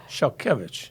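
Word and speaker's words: Szalkiewicz: The Z has an H sound. So instead of SZA, it's like SHA, shall, and the W has a V sound.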